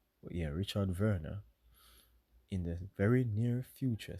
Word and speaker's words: Werner: not of that we're according to Professor Richard Werner um in Germany it's it's pronounced Verna right yeah Richard Werner in the very near future citizens will need